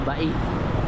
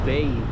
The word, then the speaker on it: Bay: music ba sabi ang bigkas daw dito Bai hindi bay ba Camba crossing dire-diretso